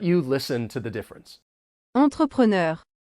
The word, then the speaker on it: entrepreneur: our next word entrepreneur this is one of many words that have been borrowed from French and the pronunciation is the sameish but not really the pronunciation is really an Americanized version of this French word I'll I'll let you